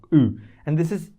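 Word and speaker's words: Ü: This is called U. U, like U, like U.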